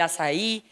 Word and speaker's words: Açai: Se pronuncia Azaí, pero es con C.